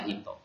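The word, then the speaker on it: 人: kanji satunya itu dibaca Hito nah sedangkan kalau dia berdiri sendiri maka dia dibaca Hito kungyominya nah kemudian kalau untuk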